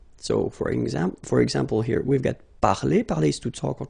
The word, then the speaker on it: parler: So, I mean, this combination of two letters at the end of the words normally gives the sound E. Okay, parler, and then past participle, participe passé, parler.